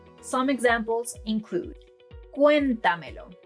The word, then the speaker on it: cuéntamelo: Some examples include: Cuéntamelo. It's not cuentámelo, cuentameló or cuentamélo.